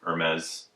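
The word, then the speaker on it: Hermès: this is from Hermes and mez you have to say it proper you can't say you can't pronounce the H so this is a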